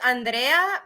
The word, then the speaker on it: Andrea: My name is Andrea, but Americans cannot say it right because of the so they call me Andy. Andrea? Mhm. Am Yeah. I right? You can Like, yeah, like you can roll your R's.